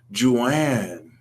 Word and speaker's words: Joanne: next we have one Yi my name is Joanne okay one with Joe so my name is pronounced like Ju a and n e1e okay